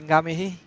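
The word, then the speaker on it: ngā mihi: We say ngamihi. Gamehi.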